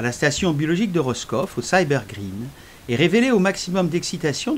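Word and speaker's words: SYBR Green: perméant des membranes comme le cyber green prononcé cyber grereen en anglais et comme ici le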